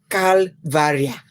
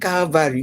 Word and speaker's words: calvaria: Now the difference is the spelling of this Calvary is R-I-A, not R-Y. Calvaria. Do you see? Not Calvary, not spelled like the Calvary cross, but this one is spelled I-A.